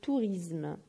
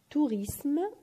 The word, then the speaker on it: tourisme: وهنا كاين كثير من الناس يغلطوا يقولوا لو توريزم alors que هي ما تتنطقش بالزاد، تتنطق بالاس، دونك توريسم وماشي توريزم.